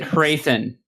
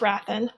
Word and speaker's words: Hrathen: or her beliefs go against their is it hrathen it is not wrathan i love how you just someone said something we just pronounce it different way i love it it's